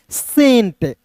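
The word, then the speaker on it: cent: इसे केंट नहीं पढ़ेंगे। सी इ एन टी को केंट नहीं पढ़ना है दोस्तों। इसे पढ़ेंगे सेंट।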